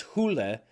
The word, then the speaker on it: Hole: As I said, I am corrected on pronunciation if I get even a syllable wrong, and apparently in the native tongue it is Hula.